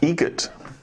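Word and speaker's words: Eget: How do you say the name? Adam Egget. Egget. Spelt differently. Like the bird.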